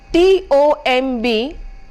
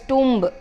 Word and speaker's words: tomb: not an elite Society T OMB is a tomb where B is silent and it's not to be pronounced as Tomba the B is silent and therefore it is